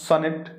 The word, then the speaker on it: sonnet: इसके बाद में जो है सोनेट जो है, देखिए सोनेट pronounced sonnet is a 14 line poem with a fixed rhyme scheme.